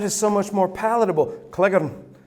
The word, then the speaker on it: Cleghorn: If I had taken my mother's surname, which is also Scottish, the way that it's spelled is Cleghorn. Yeah, you're working that out, aren't you? And in Tennessee, Cleghorn. But in Scotland, Cleghorn.